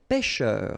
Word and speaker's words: pêcheur: So remember, when you've got this accent circumflex, you know that's the name of this accent. On the top of it will open the sound. So you get really open. Okay, so pêcheur. And then E-U-R, heure.